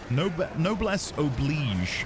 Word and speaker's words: noblesse oblige: No, Noblesse Oblige, I think is how you're meant to say it.